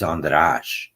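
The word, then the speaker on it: András: hungry and so uh the correct pronunciation of my name is andash sorry I should have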